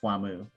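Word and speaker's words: Wamuu: it would be pronounced Whamu.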